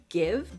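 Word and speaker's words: GXVE: brand i believe is give but it's g x v e i think i think that's how you pronounce it though let's check okay i checked it is pronounced give and it's apparently inspired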